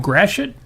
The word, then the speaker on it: Gratiot: Well, the thing is that if you look at the spelling of Gratiot, it's Gratio. Gratio.